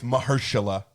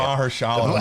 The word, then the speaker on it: Mahershala: To be honest, with Mahershala.